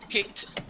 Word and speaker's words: kite: Kite. Kite. Exactly. No. Remember the E is... Yes, kite. Kite. The E is silent and the I is long.